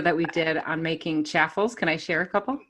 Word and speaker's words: chaffle: we did on making chaffles. Can I share a couple? Yeah, it's chaffles, Stephanie. Oh, it's chaffle? Yes, we were corrected on the comments.